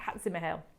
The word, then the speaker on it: Hatzimihail: The artist is called Theophilus Hatzimihail. Hang on. Hatzimihail. I knew I'd got some syllables around the wrong way. Hatzimihail.